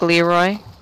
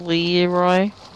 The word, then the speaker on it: Leroy: it drinking giant did she just say it quickly like leroy instead of lee roy no she said it right oh leroy jenkins oh is that